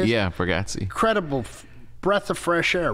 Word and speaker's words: Bargatze: Yeah, Bargatze.